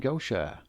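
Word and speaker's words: Gautier: At number six is the Franklin Cemetery in Gocher. I checked and that's the correct pronunciation of G A U T I E R.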